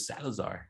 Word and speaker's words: Salazar: I was like, dude, that rhymes with Salazar, because nobody would call me Salazar.